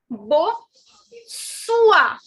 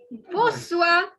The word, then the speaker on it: bonsoir: The word for good evening is bo sua. Bo sua. So basically, the N is not to be pronounced.